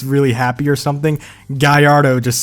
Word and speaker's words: Gallardo: is Portia not Porsche Lamborghini Gallardo is Guyardo not Gallardo or Gaillard Oh a lot of